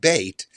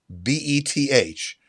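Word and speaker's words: בית: all of linguistic history with their weird to english transcription of bait as b-e-t-h pronounced by americans of course as beth i grew up at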